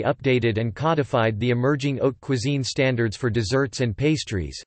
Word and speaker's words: haute cuisine: Haute cuisine, pronounced haute cuisine, high cuisine, has foundations during the 17th century with a chef named La Varenne.